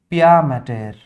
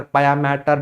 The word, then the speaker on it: pia mater: This was pia mater. Observe the spelling, it's not matter, it's mater. Mater means mother, maternal, paternal. That was the spelling, not matter, pia mater, dura mater.